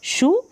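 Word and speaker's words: shoe: रखी है शू की, यहाँ पर ओ ई एंड में है और इसको हम बड़ी ऊ की मात्रा के रूप में प्रोनाउंस कर रहे हैं, शू।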